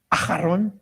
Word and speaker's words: Aharon: Aharon.